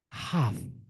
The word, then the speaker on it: half: Half. Half Teman-teman. Half L is silent after A and O.